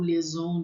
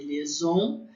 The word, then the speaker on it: liaison: Então, quando a gente estiver lá falando de liaison, vocês vão lembrar. Lembra que IA tem som de E.